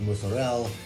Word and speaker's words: mozzarella: Same thing with mozzarella. It's not pronounced mozzarella, it's mozzarella. So just so I've been told, it's by some very nice Italian gentlemen.